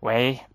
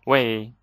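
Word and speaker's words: 喂: with chinese people often we will say way or some people say way and people say way so there's two pronunciation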